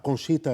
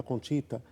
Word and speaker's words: Conchita: A mamãe de Conchita, da Conchita, deixa eu só dizer uma coisa, 2 formas aqui de pronunciar. A mais comum é Conchita. Conchita, em espanhol, mas é interessante.